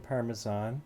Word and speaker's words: parmesan: I had chicken parmesan. Oh, look at you saying it right. Look at I. Ooh. Parmesan. It's got no J in it. Chicken parmesan. Without the J.